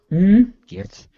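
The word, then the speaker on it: Giertz: So as much as Bob wants me to talk about, how do you pronounce it? Simone Gertz? Gertz? Gertz.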